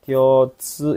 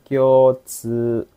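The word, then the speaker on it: 共通: Kyotsu ini bacanya kyo-nya panjang, kyotsu. Nih, su-nya juga panjang, kyotsu.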